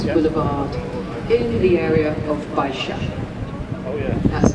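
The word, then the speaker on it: Baixa: the most prominent boulevard in the area of Bisha. Oh yeah that's spelled B A I X A Bisha.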